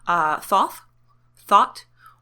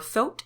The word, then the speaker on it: Thoth: And there are a million ways to pronounce this name, and there's no officially right way. I just want to remind you all of that. Thought, or Thoth, it depends who you are.